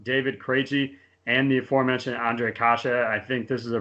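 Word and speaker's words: Ondřej Kaše: Look at you nailing Ondrej Kase twice. That's a guy who's done some homework on the NHL pronunciation guide, folks, because that's one of the most mispronounced names that I hear on broadcasts regularly. And my partner just nailed it.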